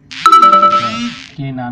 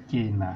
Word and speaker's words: কেনা: হ্যাঁ, তাহলে কেনা নয়, কেনা।